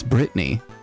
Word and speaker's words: Brytnnae: Yeah, so that name that I typed in the chat, the Brytnnae, that's Brittany. Just Brittany. Regular Brittany. No change to pronunciation.